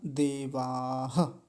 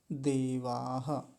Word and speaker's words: देवाः: तो विसर्ग का विशेष रूप से ध्यान रखेंगे। देवाह यानी विसर्ग को छोड़ेंगे नहीं, कई नहीं तो कई बार देवा ऐसे करके छोड़ दिया जाता है। तो देवाह ऐसा बोलेंगे।